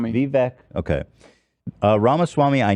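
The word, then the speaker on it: Vivek: Vivc Ramaswami. Vivvec.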